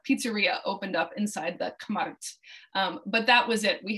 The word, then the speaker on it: Kmart: was bought out by kmart which the slovaks pronounced k'mart and towards the end of that first year a little caesar's pizza pizzeria opened up inside the kumart but that was it